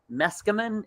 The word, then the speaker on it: Meskimen: our amazing guests meskerman am i saying that correctly you are very good him out yeah you just take a running lead let's come in it rhymes with masculine that's how i i